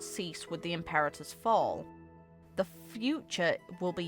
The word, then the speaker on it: Imperator: What do you think, Imperator? I hate that people pronounce it Emperor.